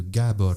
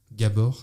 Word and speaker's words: Gábor: Je vais faire plutôt dans le vintage et je vais parler de Gábor Szabó, donc qui est un musicien de jazz hongrois des années 60-70 que je trouve incroyable.